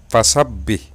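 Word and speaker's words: فسبح: Di situ cara membacanya harus ditekan ataupun ditahan selama dua ketukan. Jadi lafal fasabbih yang pertama di sini ba yang pertama yang di atasnya ada tasdid.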